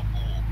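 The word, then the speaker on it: Aalborg: Pronunciation is the key. Yeah, Elborg, I should say.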